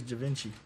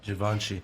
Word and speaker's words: Givenchy: This is Da Vinci. That's just crazy. Did I say it right? Givenchy.